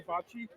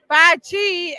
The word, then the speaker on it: bocce: But Anna, you were saying that you're Italian, and the right way to say Bocce. Yeah. So we should say Bocce instead of Bocce.